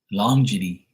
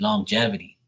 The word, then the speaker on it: longevity: __ ] it up I said longy right and it's it's not long it's longevity right and I was saying it wrong the whole time and